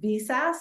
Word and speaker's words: VSAS: VSAS, is that how you say it, Jim?